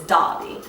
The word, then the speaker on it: Derby: do he say it not Derby it's spelled Derby but it's Dobby so he has this